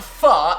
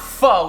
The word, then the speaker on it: pho: Now, to make pho, which by the way, it's pronounced pho, not pho, even though it's P-H-O, it's not sounded like that.